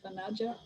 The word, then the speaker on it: Vanaja: Okay, thank you, Fanaja. How do you pronounce your name? Yes, exactly. You pronounce it right, Vanaja. Okay, thank you for sharing, Fanaja.